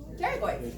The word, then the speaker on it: pterygoid: First letter is silent. Pterygoids, yeah.